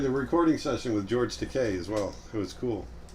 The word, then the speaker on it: Takei: Takei. And he goes, actually, it's Takei. Rhymes with okay. The name's Takei.